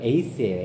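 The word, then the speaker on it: εἰς: 이제 근데 안에서는요, 그 헬라어로 에이스예요. 에이스. 좀 써보실래요? 에이스. 그리고 하나 되어는 헤이스예요. 헤이스. 헤이스. 그래서 약간 에이스, 헤이스를 발음이 비슷하죠. 약간 강하게 읽으면 헤이스가 돼요.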